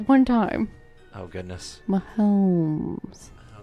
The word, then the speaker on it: Mahomes: there's the elegant Patrick there's no l in his name you got it with like one time oh goodness my homes potato right see